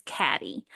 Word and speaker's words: Caddye: So a man named Joseph, and he went by Joe Lee Allen, and his wife, I've heard the pronunciation is Caddy. It's spelled interesting. It's spelled Caddye, but Caddy Allen live a very privileged life, and they had three daughters.